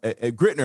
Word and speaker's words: Grittner: well grittner um grittner am i pronouncing your last name correctly i didn't even ask you yeah uh no that's that's correct i am i'm excited